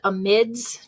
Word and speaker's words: amides: we have amines and amides some people pronounce these a mids just in case you